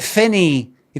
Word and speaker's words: Finnie: actually is fine but fine. You got to say finey so it rhymes with you can call me fine. So you got to say it like you're no glass.